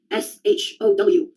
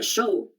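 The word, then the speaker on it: xodó: S H O W. Show. In Portuguese, there's a word show. It's spelled X O D O with an accent on the last O.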